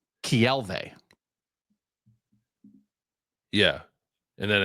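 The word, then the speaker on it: Keawe: Okay, but so his second name is pronounced Kielve.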